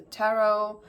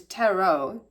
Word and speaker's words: tarot: don't know because cuz tarot tarot sp sp is spelled with a T at the end however it's silent when we say it so yeah there's something